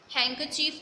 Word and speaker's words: handkerchief: Handkerchief mean रुमाल, and इसमें R is silent. R की साउंड नहीं होगी.